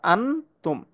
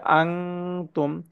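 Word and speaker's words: أَنتُمْ: তাহলে এটার হামদা নুন জবর আন হওয়ার কথা, আন তুম। কিন্তু এখানে যেহেতু তা ইকফার হরফ, তাই এখানে আনতুম হবে না, এখানে হবে আং তুম।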